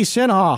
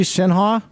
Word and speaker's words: Sinha: 10 Countdown hotline Sinha hi hi Dave how are you good did I pronounce that correctly shha you did well done hey hey how about